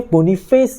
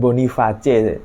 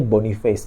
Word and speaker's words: Boniface: finisher yaitu Victor boniface bacanya boniface Ya bukan bonace tolong ditonton lagi pertandingannya Leverkusen komentatornya bacanya bonny face bukan boniace sama Patrick Shik ya